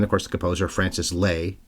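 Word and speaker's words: Lai: being there and of course the composer Francis Lei L AI but pronounced Le according to the presenter at the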